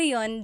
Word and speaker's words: yun: You might hear people say, ginawa ko iyon dahil mahal kita, but usually the letter I sound is dropped.